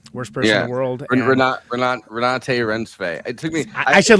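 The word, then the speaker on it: Renate Reinsve: And instead of Julia Garner, it was Renata Rancivi, who's from Worst Person in the World. Renate Rensve.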